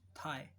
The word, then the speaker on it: thigh: जैसे THIGH, थाई, थाई, इसमें GH हमने साइलेंट कर दिया।